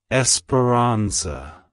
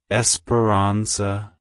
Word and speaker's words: Esperanza: Spanish it's pronounced as Esperanza Esperanza Esperanza to pronounce it correctly emphasize the a at the beginning and the zah at the end the Ron sound is